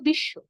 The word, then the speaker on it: বিশ্ব: আবার দ্বিতীয়ত শব্দের শেষে ব যুক্ত আছে, দ্বিতীয় নিয়ম অনুযায়ী শব্দের শেষে ব যুক্ত থাকলে আমরা বয়ের উচ্চারণ করব না, কিন্তু যে ধ্বনির সঙ্গে ব যুক্ত হয়েছে সেই ধ্বনিকে আমরা দুইবার উচ্চারণ করব।